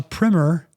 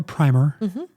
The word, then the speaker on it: primer: So, and if you want a a primmer or primer, depending on how you want to pronounce it on seed